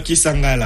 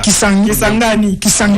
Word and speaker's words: Kisangani: Languine Kisangala. Kisangani. Il faut bien prononcer.